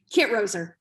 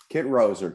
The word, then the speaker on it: Kitroser: You're excellent with Kitroser and Associates. Did I pronounce that right? Kitroser. Kitroser. Kitroser. Emphasis on the Kit.